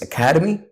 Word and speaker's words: academy: Academy which is correct don't say academic it's Academy it's academic Academy academic so we have less stress on the second syllable in academic academic and that make the four syllables that make there is no stress on the second one but an Academy it's